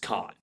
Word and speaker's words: Kahan: It's spelled Kahan, but it's pronounced Khan.